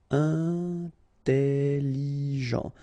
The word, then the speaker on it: intelligent: Final T not pronounced, so G-E-N, Jean, okay? Intelligent. Double L, it opens the pronunciation of your E, so it's E.